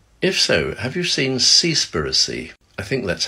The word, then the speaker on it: Seaspiracy: so have you seen seaspiracy I think that's how you say it it's actually seas and piracy but made into one word it's not comfortable viewing